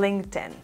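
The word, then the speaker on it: LinkedIn: no hay nada como esta plataforma su correcta pronunciación es un link ten en este caso la letra y no suena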